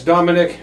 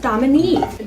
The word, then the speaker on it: Dominique: Oh, kids, everyone likes Dominic. She's a very likable lady. Dominique, Dad. It's pronounced Dominique. Dominic is the maitre d' at Luigi. Okay, Dominique.